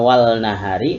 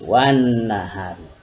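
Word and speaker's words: وَالنَّهَار: Tulisannya wal nahari tapi pembacaannya harus wan nahari.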